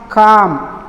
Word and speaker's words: calm: Next farm, calm. ఇక ఎల్ విషయానికి వచ్చినట్టయితే ఫామ్, ఈ ఎల్ అనేది ఇక్కడ సైలెంట్గా ఉండడం జరుగుతుంది.